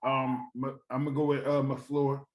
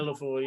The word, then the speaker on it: LaFleur: Of course, I'm gonna go with McFleur. I'm gonna go with did I say his name? Yeah, Matt LaFleur, yeah.